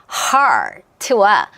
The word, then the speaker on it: heart: 자, heart와 hurt의 차이는 발음 끼워보시면 모음밖에 없어요. 자, 우리가 보통 마음, 심장이라고 하는 거는 R 사운드예요. 뭐랑 똑같냐면 dark랑 똑같아요.